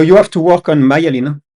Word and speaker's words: myelin: So you have to work on myelin. Myelin? Melanin. No, myelin.